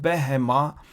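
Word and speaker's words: בהמה: Here behema we pronounce with a ba.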